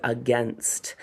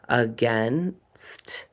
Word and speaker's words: against: Against. Against. A g a i n s t. So we have that schwah at the beginning and the ai spells that e again instead of that long a like we would like.